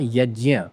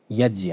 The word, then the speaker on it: यज्ञ: फिर ये बनता है ज्ञ तो ये हुआ यज्ञ यज्ञ यज्य अब यज्ञ यज्ञ क्या होता है